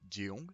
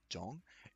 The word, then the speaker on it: Jang: Alors attention, ce n'est pas Jeong, c'est bien Jang, et également Daun, c'est parfaitement entendable, mais si vous voulez vraiment être précis, ce sera Taun.